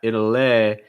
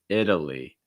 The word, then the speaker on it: Italy: lee lee italy italy so it's not italia it's not italy it's not italy it's italy italy uh our next one